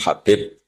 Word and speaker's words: Habib: Ada yang nulis Abi Abdurrahman Habib Asulami. Itu di harakatnya kitab itu ada yang nulis khubab. Tapi yang benar. Oh, nggih. Yang benar itu bacanya habib.